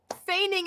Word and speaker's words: feigning: spread into giving painting feigning an injury feigning it is how you say that that's so weird what